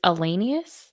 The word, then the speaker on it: Allenius: it for the record it's allenius like miscellaneous is that not what